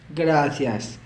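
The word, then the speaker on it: gracias: आ गया थैंक्स या फिर थैंक यू, तो आपने बोलना है ग्रासियस, यहाँ पर ज़बान लगा के, ग्रासियस, ग्रासियस, ग्रासियस।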